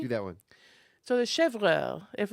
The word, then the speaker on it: chèvre: accent is on the e. Do that one. So the chèvre, if it's Okay.